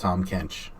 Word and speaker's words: Tahm Kench: the early first off how does a kuzco's pronounced tahm Kench okay I didn't know the N word was